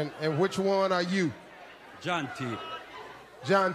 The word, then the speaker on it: John T.: I mispronounced the name of the group. It's Sasquatch and John T.